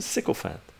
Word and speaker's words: sycophant: Psychophant. Toady, leech, sponge, parasite, means usually obsequious flatterer or self-seeker. Sycophant. Oh, is that how you pronounce it? Sycophant. I like wise. Sycophant.